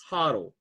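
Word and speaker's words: HODL: but you can at least just tell them spell it out and tell them o h o dl everything yeah that's thanks huddle huddle is and then you have FOMO which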